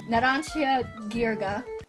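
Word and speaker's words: Narancia Ghirga: Well, I mean, if you look at it and think Ghirardelli. I never. What? The G-H in Ghirardelli? This stand has a carbon dioxide radar.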